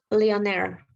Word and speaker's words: millionaire: I think is in the millionaire. Millionaire. Yeah. So these are the weak vowels. Millionaire. We don't pronounce E. So the stress was here.